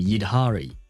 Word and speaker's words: Yidhari: Can you walk, Yidhari? Ah, so you have to pronounce the H in her name. Yidhari.